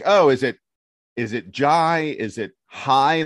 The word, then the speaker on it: Jai: Texas website it says J ay which is pronounced J which is fair because back when he was